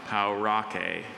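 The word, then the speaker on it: Pauraque: Or is there any alternative pronunciation? I have just the one, Paurake.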